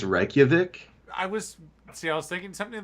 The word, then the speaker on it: Reykjavik: No, I'm not a linguist, but I'm 95% sure that says Reykjavik. So like the J would be pronounced as a Y.